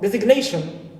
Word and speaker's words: designation: is a suffix clear also for designation I have followed by n but it's followed also by Shin suffix Shin that's why it is kept not omited right another also case